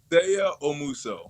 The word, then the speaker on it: Seigha Omuso: Seigha Omuso.